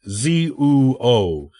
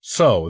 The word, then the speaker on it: Zuo: surname was actually zo which is pronounced zuo rather than the so that we call him as a renowned general